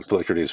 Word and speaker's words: Polycrates: Anyway, rhymes with Socrates, more or less. Uh, Polycrates was a king in